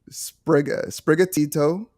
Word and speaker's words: Sprigatito: So it's Sprigatito, Foy Coco, and Quaxley.